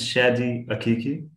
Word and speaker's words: Shadi Akiki: Because I don't want to mispronounce it. My name is Shadi Akiki. Shadi Akiki, yeah.